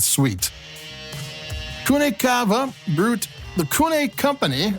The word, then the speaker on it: Cune: Whoever did the labeling thought that the V should have been a U. And so their wines, even though the company is CV ne, the wines have been CU NE Kune, which you can actually pronounce that ever since.